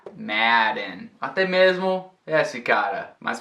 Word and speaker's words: Madden: Não é um E por causa da dupla consoante, é Madden.